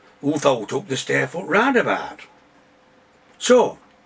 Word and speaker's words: Rarndabart: Because in the endemic working class Barnsley dialect, Rarndabart, what posh people say roundabout, rhymes with fart.